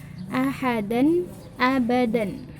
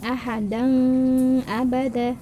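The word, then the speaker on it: أحدا أبدا: Nadia ada Alifah ONH maka dibacanya secara jelas ahadan abadan ahadan abadan bukan Aha dong Abah teh dibawa jelas tegas ahadan abadan ah ah Hai gampang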